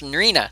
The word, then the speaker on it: Marina: lover of narnia marina how did I pronounce her name it's marina there it is n RI